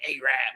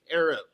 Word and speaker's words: Arab: b like you know i'm saying this like a rap like no bro it's arab like pronunciation i appreciate that thank